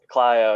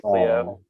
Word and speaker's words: Clio: Clio, yeah, everyone calls it Cleo.